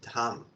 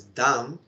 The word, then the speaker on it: dham: eight dham and down that is why we have to pronounce as dham because damn is another meaning and we have to